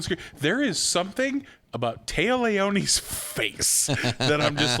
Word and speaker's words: Téa Leoni: I don't like Téa Leoni. Yeah. I got her name wrong, so how well do I like her? Yeah. I called her Leah. Leah Tione.